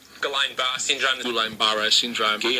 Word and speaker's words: Guillain-Barré: Aw, here's how you pronounce it. Guillain-Barré Guillain-Barré syndrome Guillain-Barré syndrome Guillain-Barré syndrome Well, now I'm having a seizure.